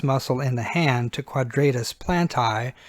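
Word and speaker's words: quadratus plantae: in the hand to quadratus plant eye so if you'll pronounce it quadratus Plante the red ones there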